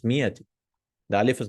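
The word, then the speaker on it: مئة: We don't pronounce that alif. So some students, they read bima'ati riyal. No, it's mi'ati.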